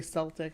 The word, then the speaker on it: Celtic: I think that the proper English is spelled with a K in the original language, which denotes that it should have a hard K sound. So Keltic, Celtic.